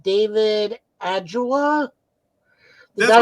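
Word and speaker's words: Ajala: I got to speak to, I don't know how to pronounce his last name, David Adjula.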